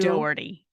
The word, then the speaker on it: Dougherty: Yeah, Well, and and for then our listeners, Dougherty is spelled more like Dougherty. Doherty.